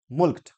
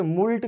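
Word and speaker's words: mulcted: Next word देखते हैं मुल्क्ड। मुल्क्ड, इसका प्रोनाउंसिएशन में ध्यान दीजिए, कुछ लोग इसे मुल्ट कहते हैं, लेकिन मुल्ट नहीं होता, ये होता है मुल्क्ड होता है।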